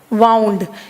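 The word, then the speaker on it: wound: वाउंड। इसको वूंड नहीं पढ़ोगे, you will not pronounce this as वूंड, this is वाउंड, this is नॉट विंड।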